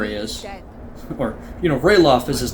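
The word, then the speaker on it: Ralof: mountains of Skyrim here we go is that Ralph next to Imperial there he is or you know rayloff as his name is pronounced look who it is how have you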